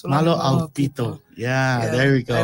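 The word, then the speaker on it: Mālō ʻaupito: Malo Aupito. Malo Aupito. Malo Aupito.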